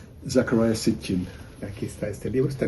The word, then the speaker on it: Zecharia Sitchin: Me gustaría preguntarte si existe, digo, más allá de, pues, de esta interpretación de este hombre, ¿cómo dices que se pronuncia? Zecharia Sitchin.